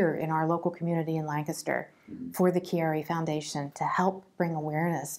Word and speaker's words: Chiari: I was a very active person the proper pronunciation for my diagnosis is Chiari malformation I was also diagnosed with basilar in